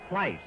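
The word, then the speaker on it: Pleis: And I butchered the pronunciation of his name. So with everybody watching, let's let's straighten it out. The leftander is Bill Pice.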